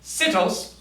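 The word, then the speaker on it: σῖτος: Originally it meant that when you were pronouncing this tonally, you should say sitos. But now it just tells me that we say, everybody, sitos, Sitos. instead of sitos.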